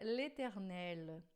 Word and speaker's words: l'éternel: Lembrando sempre da pronúncia, aqui sempre dois R's, aqui sempre som de L, não é o eternel, mas é l'éternel, tá? esse T a gente não fala, você já sabe.